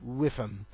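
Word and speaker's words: WIIFM: It's pronounced whiffum. It's well known in the marketing circles because every marketer knows if you're going to write a successful advert, yes, I am talking about advertising, the reader or the viewer of the advert will always say in their head, what's in it for me? W-I-I-F-M, pronounced whiffum, for fun.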